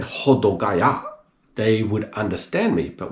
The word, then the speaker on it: Hodogaya: So I would listen, they say Hodogaya, rather than Hodogaya. The O is a different ho rather than ho, do rather than do, gai rather than gai, ya.